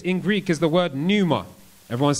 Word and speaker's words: pneuma: the word spirit in greek is the word numa everyone's saying numa p-n-e-u-m-a i think that's how it's spelt pneuma and that just means beyond the